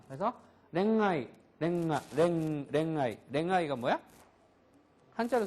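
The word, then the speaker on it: 恋愛: 응 발음이 나는데요 응 발음은 아사자와 야하 행 앞에서나 또는 단어의 끝에 응유로 끝나는 경우 이럴 때에는 대부분요 응발음이 비음이 강한 음이 나온다. 그래서 랭아이 랭아 랭아이 랭아이가 뭐야?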